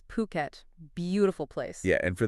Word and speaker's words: Phuket: And just so everyone's clear, we're talking about Phuket. Puet, not uh not Phuket, as some might say. Yeah, you got to get that pronunciation right. It's Phuket.